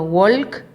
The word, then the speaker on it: walk: A pesar de que está escrito walk, se pronuncia walk.